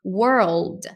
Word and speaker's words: world: tá no caminho certo é assim mesmo tá world world então eu diria aqui se você falar mais pausar Dinho assim pronunciando o ar e depois o old não vai ficar pronúncia